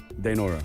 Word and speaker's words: Dainora: Dainora. Dainora, perfect.